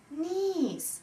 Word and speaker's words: niece: Niece. Niece – это племянница. Произносится долгое И.